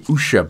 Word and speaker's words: Usha: her name is well they say usha but i'm gonna call her asha because because i'm british and we mispronounce a lot of words or is it the